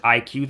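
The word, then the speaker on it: iQOO: available is the vivo IQ IQ oo they pronounce it IQ though doesn't have the bands for the US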